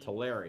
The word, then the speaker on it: Tulare: Like every time you go to Tulare, you're Well, that's how you pronounce it. Tulare, not you Tulare.